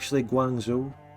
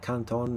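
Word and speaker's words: Guangzhou: of Chinese places are like Canton we call can it's guango we call it Canton it's just like a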